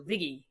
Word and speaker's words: Viggy: normal pronunciation but where viggy comes from is Vicky with the New York accent so viggy likey Like Biscuits so